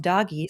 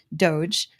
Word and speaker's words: DOGE: out about Elon Musk and what she called doggy so she made the same error that I did originally doge is how you pronounce it Heather uh she flipped out about